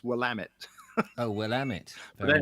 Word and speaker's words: Willamette: there was one i always had a problem pronouncing it spelt w-i-l-a-m-e-t-t-e and i always thought it was willamette but it's willamette oh well am it very nice whatever and